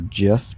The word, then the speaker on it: GIF: We see that there's a GIF file, or GIF, depending on how you like to pronounce it.